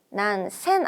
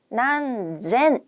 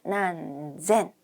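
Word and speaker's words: 何千: 합니다 나나센 다생 큐센 그리고 몇천 난생 됩니다 난센 아니고요 난젠 있니다 난젠 자 그다음에 만단위로 한번가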